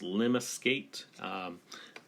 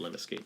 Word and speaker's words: lemniscate: And this one's called, I think it's pronounced lemniscate. Don't hold me to it, but I think something to the effect of lemniscate.